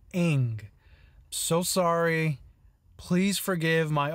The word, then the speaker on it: Ng: saying that right so i just realized i made a huge mistake throughout the entire video i apologize i was mispronouncing my previous round bottom walk it's actually pronounced and eng so sorry please forgive